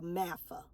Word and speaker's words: MAFGA: Maga it's time for mafa the g is silent make American families great